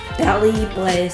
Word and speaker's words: Paris-Brest: I don't know how to pronounce it. Oh, like I do. Google Translate. Paris-Brest. Paris-Brest.